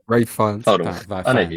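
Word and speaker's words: Ralph Fiennes: I would say fine, Ray- but maybe I think it it's- is Fiend. Yeah, Ray Fiennes. Hold on. I know who you mean. Fines.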